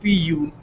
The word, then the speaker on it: Puglia: the east region of Puglia, or probably better known to Americans as Apulia, probably because it's easier to pronounce and spell, Apulia, versus Puglia, which is Pugalia.